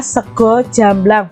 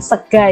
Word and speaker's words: sego jamblang: adalah sego jamblang nya ini bacanya sego jamblang bukan segar ya sego itu bahasa